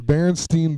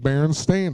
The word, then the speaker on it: Berenstain: being spelled Stein, the Berenstein Bears, but it was actually, I even remember in school they told you that it was spelled or pronounced as Stain and not Steen, and but because it